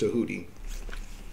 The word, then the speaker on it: Tahuti: Some people say Thoth. But it's pronounced Tahuti.